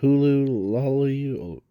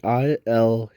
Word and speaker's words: Ilulu: Is it Hulu Lolly? It's Ilulu.